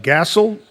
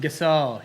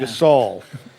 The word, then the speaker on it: Gasol: looks like uh Mark I don't know how you pronounce the last name gasel g o l he's an NBA basketball player Oh Gasol yeah Gasol we got some local